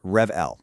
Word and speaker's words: Revele: And that's pronounced Revl, like revenue plus the letter L.